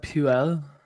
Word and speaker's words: Puel: Claude Puel. There you go. I figured it rhymed. Yeah. I figured it rhymed with fuel.